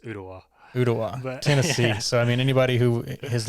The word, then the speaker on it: Ooltewah: pronounce ultiwa close yeah it's if you're out of town it's ultawa if you live here the else island it's just uttawa i mean anybody who